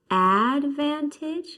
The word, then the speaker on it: advantage: advantage. Is that where the accent's supposed to be? Mm-mm. Advantage or advantage? The middle one you said.